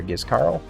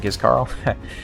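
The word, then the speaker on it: Giscard: So welcome to the S tier there, Gizcard, not Gizcarl.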